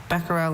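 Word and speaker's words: becquerel: Beckerel and Beckel are the two pronunciations, right?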